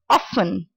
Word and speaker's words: often: the last one is often not often T is silent again now I teach you